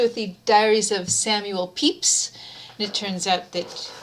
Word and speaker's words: Pepys: the diaries of samuel peeps and it turns out that peeps even though it's spelled p-e-p-y-s is not spelled peppas but not pronounced peppas but pronounced peeps anyway here it is